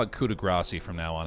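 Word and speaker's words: grâce: Pronounced Gras? Someone got mad at me and said it's Gras. I'm gonna call it coup de grace from now on.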